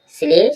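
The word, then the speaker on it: sledge: जब जी से पहले डी आएगा तो डी साइलेंट होगा। या डी के बाद जी आएगा। कैसे बोलो? तो क्या होगा? डी साइलेंट होगा। सिलेज सिलेज में यहां डी का साउंड नहीं आ रहा है।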